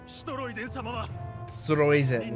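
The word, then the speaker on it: Streusen: Stroizen is how they pronounce it.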